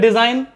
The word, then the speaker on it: design: G silent. SIGN, English में साइन, Hindi में साइन यानी चिन्ह या निशान। DESIGN, इंग्लिश में डिज़ाइन, हिंदी में डिज़ाइन यानी किसी चीज़ की रचना करना।